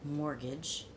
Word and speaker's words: mortgage: When you learn a new English word like mortgage, by the way, you don't pronounce the T, promotion or retirement.